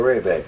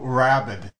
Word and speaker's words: Rayback: So that's how you pronounce it. I've been introducing your music under the banner of Rabbit. No, not Rabbit.